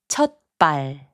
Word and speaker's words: 첫발: 첫발, which means first step, is pronounced as 첫발.